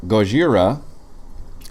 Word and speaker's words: Gojira: the people's Atomic breath oh on you so Gojira which I assumed is the thing that we